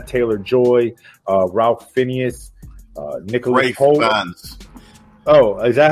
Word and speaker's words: Fiennes: Fiennes.